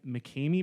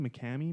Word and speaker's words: McKamey: heard of the mccann mckamey manor i think is how it's pronounced mckamey mikami manor no so what